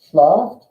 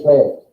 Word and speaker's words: schläft: RCS schlaft, nein. RCS schläft. Everyone say Say it like this. Just say it like this. Say schläft.